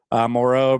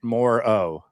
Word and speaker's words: Moreau: Patrick, the Dinger says, did y'all hear Moreau pronounce it More-O? He did say his name differently than most everybody else says it.